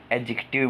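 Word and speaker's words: adjective: इसमें D silent होता है, इसको एडजेक्टिव बोलते हैं।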